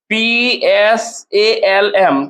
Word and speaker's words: psalm: Question छूट गया है, PSALM, ठीक है। PSALM में आपका पी साइलेंट है, क्या साइलेंट है, आपका पी साइलेंट है।